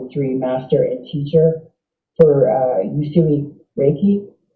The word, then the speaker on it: Usui: It's Uyushi? It's Usui. Yeah, Uyushi. Yeah. Oh, it's only 4 letters, but it's hard to pronounce.